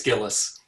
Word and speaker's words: Gilles: Correct pronunciations on those? It's Gillis.